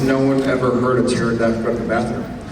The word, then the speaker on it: pterodactyl: Why has no one ever heard a pterodactyl go to the bathroom? Because the P is silent.